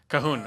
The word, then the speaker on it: Cahoon: Kind of, Cahoon. I called him Calhoun for a long time.